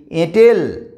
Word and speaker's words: এঁটেল: কিন্তু যখন আমরা এ দিয়ে একটা শব্দ লিখছি, এঁটেল, এ চন্দ্রবিন্দু টয় কালো, এঁটেল মাটি, এঁটেল, এঁটেল, তখন কিন্তু এটাকে নাকের সাহায্য নিয়ে উচ্চারণ করছি, তখন এটা হয়ে যাচ্ছে সানুনাসিক স্বরধ্বনি।